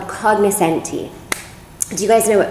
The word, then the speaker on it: cognoscenti: But really, in Italy, it's an Italian word, it would be cognoscenti, or is that right?